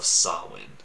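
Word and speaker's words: Samhain: the celtic great of sawwin i think is actually how you say it the way it's written though is just not even close to that because and this is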